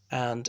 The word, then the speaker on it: v: I know that V stands for versus, which is the Latin word for against, but in Commonwealth countries, you say M and Home Office, or you could say M against Home Office.